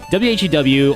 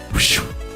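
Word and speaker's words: Whew!: Well, any pronunciation you're thinking of in your head is wrong. You pronounce it WHEW or as in the sound you make when you get into a close call. It's called WHEW. So a few, but kind of. It's not a few, but a shoo. I'm not sure if few was a term. But you did pronounce it like shoo.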